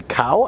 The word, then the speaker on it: CAO: By the way, for those of you who are interested, this is a CAO, I think is how you pronounce that, C-A-O cigar.